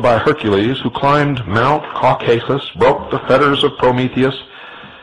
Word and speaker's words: Caucasus: For his disobedience, Prometheus, like Lucifer, was chained and placed upon the brow of Mount Caucasus, or some pronounce it Caucasus, there to remain with a vulture gnawing at